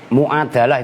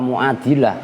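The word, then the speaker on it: مُعادَلة: Mu'adalah itu masdar ya. Kalian sering bacanya salah, mu'adilah. Kalau mu'adilah itu isim fa'il, itu masdar.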